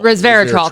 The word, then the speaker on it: resveratrol: Resveratrol, because I've said it wrong like 3 times and you've corrected me.